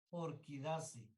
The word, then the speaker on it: Orchidaceae: Orquidaceae. ¿Ves? Se escribe orchidaceae, pero es orquidaceae.